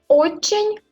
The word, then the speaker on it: очень: Очень хорошо, bien, хорошо, très, очень хорошо. En ce moment, il y a le signe mou. On ne prononce pas cette lettre, mais la lettre N devient plus molle.